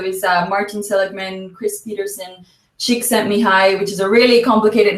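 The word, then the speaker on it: Csikszentmihalyi: the US so is Martin Seligman Chris Peterson chick sent me high which is a really complicated name but I've learned to pronounce it now finally um but uh basically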